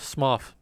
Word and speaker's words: Smough: day that pointed out it's probably pronounced Smough. Or Smough. Or Smog. Like, not Smo. Mainly because other characters with similar naming conventions are pronounced like Goff.